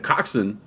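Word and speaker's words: coxswain: is called the um the coxen and that is spelled Cox Swain which is also Cox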